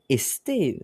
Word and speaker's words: esté: ça m'étonne qu'ils ont esté, c'est pas parce que c'est du moyen français, au moyen français on prononce quand même les lettres S, les lettres essai entre les mots quand même.